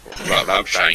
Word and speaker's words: Rammstein: Rammstein. Rammstein. Yeah, Stein. That's how you meant to pronounce it. Rammstein. Bits of roll the R and SH for the double S.